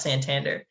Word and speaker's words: Santander: like all right thanks augustus uh but it's pronounced santander she says uh that's incorrect it's uh it's